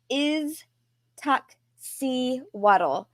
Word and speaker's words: Iztaccíhuatl: And then Iztac, it was Iztaccíhuatl.